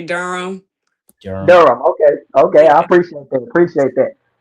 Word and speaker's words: Durham: Yeah, but you don't say Durham. You just say Durham.